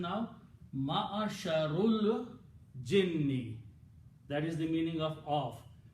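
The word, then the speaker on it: معشر الجن: So what's the pronunciation now? Ma'asharul jinni.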